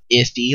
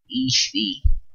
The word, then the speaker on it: Ithy: control pronunciation, and so instead of saying it Ithy like everybody knows it's supposed to be, she says Ethy.